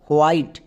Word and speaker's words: white: Next, টি এর জন্য টো, আর আমরা সবাই জানি শব্দের শেষে ই সাইলেন্ট থাকে, তাহলে এই ওয়ার্ডের উচ্চারণ কি হলো WHITE, হোয়াইট।